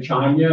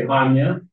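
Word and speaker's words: Chania: going to the before we would say China and they say Hanya they don't pronounce the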